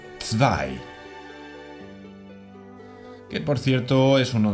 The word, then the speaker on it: zwei: Y la W es como una V vibrante. No tenemos este sonido nosotros. Así tenemos zwei.